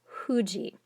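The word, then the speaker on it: 富士: say for example mount fuji in japanese that is actually pronounced huji like a w h u sound so even though it's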